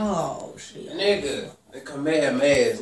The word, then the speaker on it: Kamehameha: Kamehameha. Nigga. Kamehameha. Oh, shit. Nigga. The Kamehameha is not even a Kamehameha, no, I'm gonna go like.